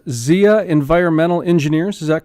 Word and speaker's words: Zia: appreciate the time it's Edward Martinez and it's pronounced Xia environmental engineers is that correct okay good I've